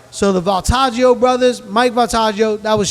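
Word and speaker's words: Voltaggio: I want to clean up all right Mike baltaggio that's the chef that I talked about last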